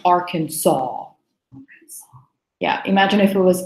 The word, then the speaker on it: Arkansas: does not look anything kind pronouncing it because it's spelled our kin sass but actually it's pronounced Arkansas yeah imagine if it was Sawa at the